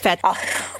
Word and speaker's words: fête: Fête.